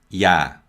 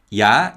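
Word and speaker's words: ㅑ: and this is ya ya ya is written like this now this extra dash represents a y sound and there are also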